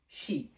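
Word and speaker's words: し: সো লক্ষ্য রাখতে হবে এই লাইনের ভিতরে একটা অক্ষর ব্যতিক্রম উচ্চারণ সেটা হচ্ছে শি এটাকে অনেকেই আবার সু মনে করেন না যে সা উচ্চারণ না হয়ে এটা হবে কি প্রোনাউন্সিয়েশন হবে শি সো এটা লক্ষ্য রাখতে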